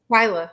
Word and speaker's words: Twylia: Twylia.